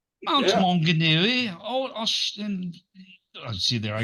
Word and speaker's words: Maunganui: God it's beautiful Island Mount mongui yeah at least you pronounced it right Mount mongui oh a see there